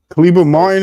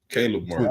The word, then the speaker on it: Caleb Martin: Kleber Martin is how you say his name. How you say his first name? Who? Kleber Martin, the guy from the Heat, the brother. Caleb Martin. Oh, Caleb. There you go.